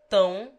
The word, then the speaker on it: tão: Tão is pronounced nearly as if written T-O-W-N-G, with the ng sound omitted or cut short.